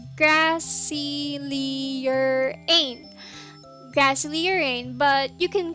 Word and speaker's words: Grassylierain: the surface level so my streamer name is grassley lyraene that's pronounced as grassy leerane grassley urane but you